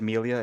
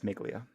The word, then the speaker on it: Miglia: cars don't confuse me i said milia it's miglia oh thank you everyone